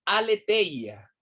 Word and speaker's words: aletheia: El dialecto de los filósofos, se escribe aletheia, A-L-E-T-H-E-I-A, aletheia, emet y aletheia.